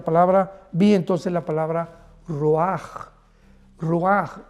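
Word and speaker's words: ruach: Y es importante porque la palabra vi entonces la palabra roaj. Roaj r u a c h. La ch en hebreo se pronuncia como una j roj que significa espíritus.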